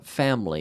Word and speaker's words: family: says here but yeah family and English family family family it's interesting we say with two syllables family family family family